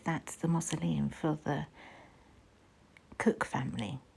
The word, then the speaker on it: Coke: I think that's the mausoleum for the Cook family. It looks like it's pronounced Coke, but it's Cook.